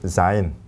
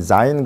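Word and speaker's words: זין: 그다음에 자인. 위에를 이렇게 하나 딱 하고 여기서 이렇게 내려오는 거예요. 이렇게. 자인. 자인. 그래서 이제 이렇게 자인 그러면 처음 나오는 이 자즈즈즈. 그래서 요 히브리어 이 자음의 음가예요. 그게 자인.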